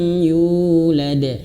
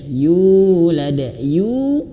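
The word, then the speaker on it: يُولَد: Yu awas, yu ini panjang 2 harokat. Yulad. Kenapa panjang? Karena ada huruf waw. Ya, ada huruf waw dan juga diberikan warna biru tua ayah bunda ya. Kenapa diberikan biru tua? Nah, kalau di sini tidak ada nih, mushaf pada umumnya tidak ada. Nah, makanya banyak yang salah di sini.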